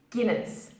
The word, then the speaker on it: Guinness: now the second word Deena's Guinness it's not pronounced as diamonds here in this its Guinness deep next now a fun fact about this